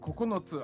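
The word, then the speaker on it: ここのつ: Kokonotsu. Kokonotsu. Sounds like coconuts. Coconuts ga kokonotsu arimasu.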